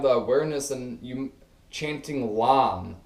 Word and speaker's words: LAM: If you don't have the awareness, and you chanting LAM, L-A-M, okay, a one syllable mantra.